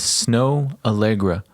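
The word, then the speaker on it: Snoh Aalegra: Anyway, again, even though you just heard it, her name is Snow Allegra. Well, that's what I wanted to say. It smells. It smells like snow. It's spelled SNO. SNOH, and then Allegra is AALEGRA. Right? Is this her? Oh yeah. It's a weird spelling.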